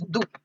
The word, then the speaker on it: du: then you will use it you will use do when you're referring to them. So you do. So we say in English you but in German we say do do.